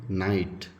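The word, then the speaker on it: knight: ಇರುತ್ತೆ ಉದಾಹರಣೆಗೆ ಇಲ್ಲಿ ನೋಡಿ ನೈಟ್ ಸೋ ಇನ್ ದಿಸ್ಕೆ is getting silent ಇಲ್ಲಿ ನೋಡಿ ಐಲ್ಯಾಂಡ್ ಐಸ್ಲ್ಯಾಂಡ್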